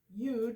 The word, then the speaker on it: yud: Yod or yud, yud is actually, I guess, the way you pronounce it, but I've always heard it as yod, so I'm going to continue, is the 10th letter